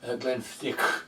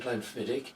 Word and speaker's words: Glenfiddich: I like Glenfiddich, I think that's how you pronounce it. I call it Glenfiddich.